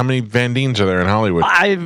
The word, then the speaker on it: Van Dien: Is that Casper Van Dien's daughter? She is attractive, certainly. Dean is spelled D-I-E-N. Yeah, she's cute. Could be Dine. No, it's Van Dien.